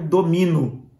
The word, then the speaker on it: domino: ter ali o verbo o verbo domino domino Olha só o fechado porque não tenha sempre Dominó O aberto que tem um acento então quando eu digo